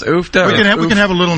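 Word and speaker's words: uff da: So, and is that are we pronouncing that right, Dan? Ufta, yeah. Ufta is kind of a Norwegian expletive.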